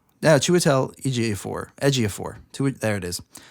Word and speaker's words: Ejiofor: she went oh yeah she would tell ej4 Ejiofor to it there it is Joshua tell as year four I made myself a pronunciation guide and everything and I will say